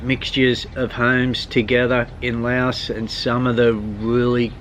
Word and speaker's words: Laos: probably hear me say Lao and Laos, referring to the country. What Jürgen says is true. It is pronounced Lao, and I pronounce it both ways because I grew up in the Western world.